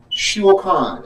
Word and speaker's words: shulchan: Hebrew word, first one is shulchan. It's spelled S-H-U-L-C-H-A-N.